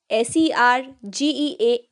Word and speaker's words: sergeant: So बहुत सारे students इसको wrong pronounce करते हैं as sergeant. Sergeant. But this is not sergeant, this is sergeant.